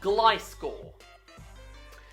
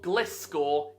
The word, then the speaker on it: Gliscor: You say glide. So it's not Gliscor, it's Gliscor.